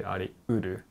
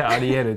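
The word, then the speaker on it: ありうる: But no, it's actually ariuru, so that's how you read. I've never heard ariuru because you always say ariyaru. We can say arieru too, but when you use this kanji, then it should be read uru.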